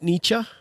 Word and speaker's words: Nietzsche: And if we think about Nietzsche, right?